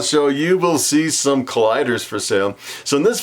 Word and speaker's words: Calider: today I want to introduce you to the collider ball python or some people would pronounce it the calendar the collider actually consists of two genes the